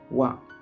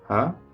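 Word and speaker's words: は: bunpo atau tata bahasa dia tidak lagi dibaca ha namun dibaca WA gitu ya teman-teman partikel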